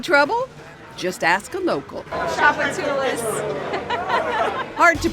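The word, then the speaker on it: Tchoupitoulas: Can you pronounce it? I would say tupatula. Takachalapalis? Well, it's absolutely tuchapatalis. Chupatula. Having trouble? Just ask a local. Chapatulas.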